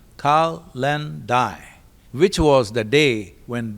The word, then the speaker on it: kalendae: The word calendar itself comes from kalendae, pronounced kal-len-dai, which was the day when debts were due, the day citizens had to pay taxes to the Roman state.